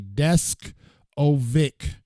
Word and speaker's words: Deskovic: And it kind of is spelled like it sounds because I've been working on his name all day. Deskovic, just like that.